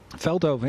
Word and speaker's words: Veldhoven: Am I pronouncing that right, by the way? Veldhoven, yeah. Veldhoven. Pretty good.